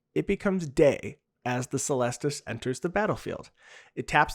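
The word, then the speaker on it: Celestus: at the end of 2021 and that's the celestis not pronounced the cellist tus like i used to say okay and i was corrected on stream so now i know it's the celestis it looks like a pumpkin and it's just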